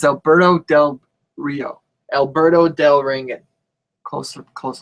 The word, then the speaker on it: Alberto Del Rio: it say his name right alandon Dand it's Alberto Del Rio Alberto del ringan close close enough okay can